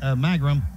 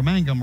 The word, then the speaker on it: Mangum: 27-yard field goal by Dusty magrum or Mangum rather to correctly pronounce his name Mangum who is from